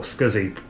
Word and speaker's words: SCSI: would be by using a scsi adapter or scuzzy depending on how you pronounce it now i've got this